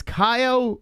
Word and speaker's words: Caio: let me get this name correctly it's it's kyo how do you say this yeah yeah you're saying it perfectly oh great